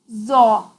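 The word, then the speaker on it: ظ: of the tongue to the edge of the upper teeth and blow with a very thick and high sound. Za. Za, za. Change only in the tongue, not on the lips. Za, za. While pronouncing za, tongue's backside goes to the upside.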